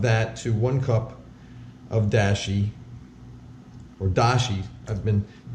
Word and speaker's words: dashi: to one cup of Dashi or Dashi I've been some users have commented at my Japanese accent is terrible and they're right uh it's dashi's the better pronunciation I'm gonna say Dashie so two tablespoons of